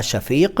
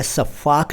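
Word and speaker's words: शफ़ाक: इसके बाद शफाक देखिए मैं सफाक नहीं कह रहा हूं। उच्चारण का खास ख्याल रखिए। सफाक दूसरा शब्द है।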